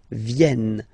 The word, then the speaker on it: viennent: So remember this classic ending ent for the third person of the plural is here, but phonetically it doesn't exist, so you don't pronounce it. Viennent, okay?